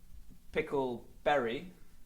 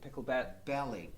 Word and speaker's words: Picklebelly: name correctly as well is it pickle berry no oh actually pickle pickle belly picture uh i mean